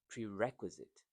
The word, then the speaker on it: prerequisite: Prerequisite. So you stress prerequisite. So you stress second syllable.